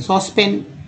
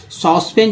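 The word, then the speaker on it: saucepan: next है सॉस पेन, सॉस पेन, सॉस पेन, सॉस पेन, सस्पेन बोल लोग देते हैं, अब सॉस पेन जो है सस्पेन बन गया है, सस्पेन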